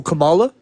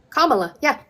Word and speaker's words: Kamala: Camala. Kamala.